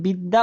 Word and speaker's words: বিদ্যা: আছে সেটা দেখবেন না যখন আপনি বিদ্যা উচ্চারণ করতেছেন তখন আপনার উচ্চারণ হচ্ছে বি দা দ এর সাথে আরেকটা দ তার মানে দুইটা দো তো আছেই এখানে এখানে